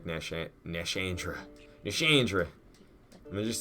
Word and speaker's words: Nashandra: Oh, she doesn't even say it like Nishandra. She says it like Nashandra.